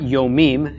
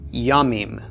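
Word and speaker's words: ימים: telling you now that the plural of Yom is not yo meme as we would expect but is yamin the Bob drops off in the plural form so Yom becomes yummy alright so we've got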